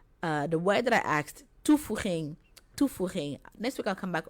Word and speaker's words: toevoeging: So next week, the word that I asked, toevoeging. Next week I'll come back on Saturday. Toevoeging, what does toevoeging mean?